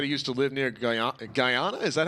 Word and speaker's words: Guyana: a real location i'll send you so it's pronounced guyana okay i was i was close but uh